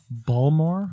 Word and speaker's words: Baltimore: How do you say Baltimore? Baltimore. There it is. Balmore?